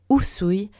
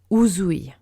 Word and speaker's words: Usui: ce qui fait que tous les S suivis d'une voyelle se prononcent toujours S et pas Z. D'accord ? Donc l'exemple le plus important en Reiki, bien sûr, Mikao Usui, le fondateur, on dit